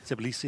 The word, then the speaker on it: Tbilisi: Tbilisi, that's how you pronounce it.